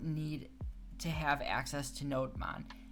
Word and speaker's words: Nodemon: much easier, and that's called Nodemon or Nodemon. I've heard it pronounced both ways. I say Nodemon, but I think that's wrong.